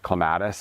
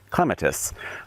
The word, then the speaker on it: clematis: This is clematis, or as the British say, clematis.